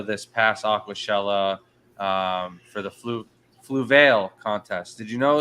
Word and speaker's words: Fluval: And then we did another scape in Orlando this past Aquashella for the Fluval contest. Did you know it's Fluval?